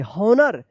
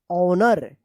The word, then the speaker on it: honor: हॉनर नहीं, इसका उच्चारण होगा ऑनर। यहां पे भी एच जो है ना साइलेंट है।